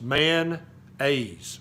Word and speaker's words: mayonnaise: I love mayonnaise which down here in the South we call mayonnaise it's two syllables manise you ever heard that it's not mayones there's no o in Tennesse it's just mayonnaise okay so if you